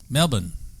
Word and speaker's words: Melbourne: So let me ask you: how do you pronounce the capital of Victoria? Melbourne.